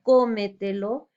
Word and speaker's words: cómetelo: Tenemos como ejemplo la palabra cómetelo, lleva la mayor fuerza de voz en co, sílaba co, igual tómatelo en la sílaba to.